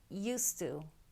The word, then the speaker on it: used to: It's used to. Used to, although it's 2 words, we actually pronounce it as a single word. And we drop the D because the T sound is stronger.